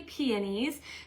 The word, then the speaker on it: peonies: Keyword is peonies or peonies, depending on how you say it. I say peonies.